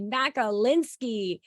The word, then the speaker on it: Makolinski: board chairperson and buffalo team lead Dr Kathy macalinski I really need like a sound board Kathy